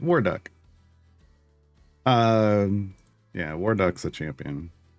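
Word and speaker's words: Warduke: We call him Waruck. Uh cuz because there's a skin there where he's literally a duck. The E is silent. Waruck.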